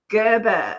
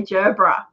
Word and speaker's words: Gerbera: I reckon you say it Gerber, because we've heard. Yeah, we googled this, and you guys say Gerber or Gerbera. We say Gerbera.